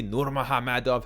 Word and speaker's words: Nurmagomedov: it hard to ignore just what a legacy nur mahamadov has left behind and yes that's how you pronounce his name roughly for 12 years the